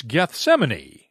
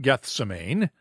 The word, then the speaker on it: Gethsemane: and a new amphitheater it's gethsemane not gethsemane thank you tim rick adams